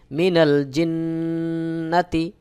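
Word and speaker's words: مِنَ الْجِنَّةِ: জবর না তা জেত্তি মিনাল জিন্নাতি নুনের উপরে তাশদি ওয়াজিব গুন্না নুন জবর ওয়ান নুন আলিফ জবর নাসন মিনাল জিন্নাতি ওয়াজিব গুন্নাহ এবং মাদ্দে আরজি হবে সহি উচ্চারণ হলো মিনাল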